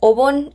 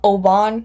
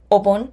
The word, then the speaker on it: Obon: It's pronounced Obon and not Obon, which is how I've been pronouncing it. But again, Obon.